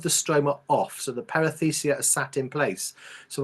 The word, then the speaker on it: perithecia: How would you break up the perithecia? How do you say that word again? Perithecia.